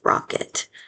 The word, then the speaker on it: rocket: It. I know that I is actually a schwa spelled with an e. Rocket. It's just like a lazy e.